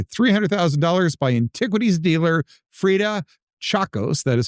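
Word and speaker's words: Tchacos: In 2000, the manuscript was purchased for $300,000 by antiquities dealer Freda Chacos. That is spelled T C H A C O S.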